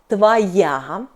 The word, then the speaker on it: твоя: Feminine — твоя .